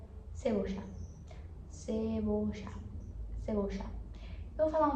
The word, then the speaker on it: cebolla: A verdura que tem a pronúncia diferente no espanhol argentino, que é para cebola. Cebola se escreve igual, só coloca um L a mais e vira cebocha.